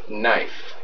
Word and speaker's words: knife: silent letters silent letters what letter is silent when you pronounce knife okay K is right that gives you four